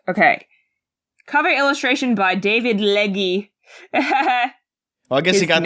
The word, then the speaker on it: Legge: I'm assuming that is actually pronounced Leg. It's Legge. Yeah. Leg.